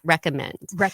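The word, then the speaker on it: RXCOMMD: any way you say it, but I actually pronounce it recommend. But it's spelled RX C O M M D. We spelled it RX. Yeah, recommend.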